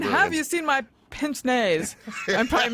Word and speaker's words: pince-nez: Pince-nez, yeah. It looks like you should have a more pinched pronunciation, actually. You I know, because it's pinching A. Yeah. No, it's pince-nez.